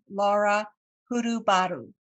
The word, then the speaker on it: Laura Hurubaru: I have with me today Laura Hurubaru. Did I pronounce that correctly?